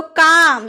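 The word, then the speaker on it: calm: एम एम के पहले एल है ना तो काम यानी कि शांत।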